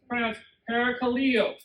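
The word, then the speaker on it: παρακαλέω: It's pronounced parakaleo. Okay, so you're close. Parakaleo.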